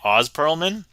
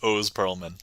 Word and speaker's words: Oz Pearlman: So, funny thing when you read uh that name, it looks like Oz Pearlman, but actually if you listen to anything uh his name is pronounced O Pearlman, so if anybody cares,